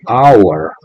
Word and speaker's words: hour: Pero hour es una palabra que empieza con una H muda. Quiere decir que esta H no tiene ningún sonido.